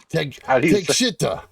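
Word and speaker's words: Takeshita: Take Shita.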